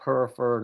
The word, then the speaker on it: Hereford: came up her furred her fur does it's pronounced came up Hereford and instead of touring left on Boston you